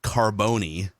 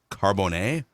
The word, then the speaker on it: Carbone: went to, in Minnesota, we would call it Carboni, like the pizza place. This is like the 5-star restaurant you can find in New York City, Miami, Las Vegas. I believe it's pronounced Carbone.